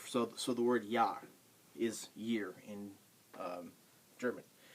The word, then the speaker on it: ja: all right on to J J is nothing like the J in our language the word the the sound J um is not what Jay does Jay when you see Jay in German it pronounces a y sound what what what uh y does for English J does for German so so the word